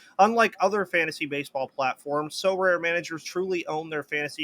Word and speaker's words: Sorare: Both are featured in So Rare's current brand campaign and will engage with the So Rare community throughout the season at MLB events.